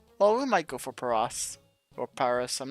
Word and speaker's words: Paras: Well, we might go for Paras or Paris. I'm not sure. I think it's pronounced Paris because Paris because it's parasite. I could be wrong on Vast.